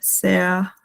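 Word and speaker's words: sehr: Con R, lo cual yo dije que se pronunciaba como una EA, sea, o sea, no se pronuncia la R en este caso. Es similar, o sea, como una E larga, R, entonces se pronuncia EA, sea gut, danke, ¿no?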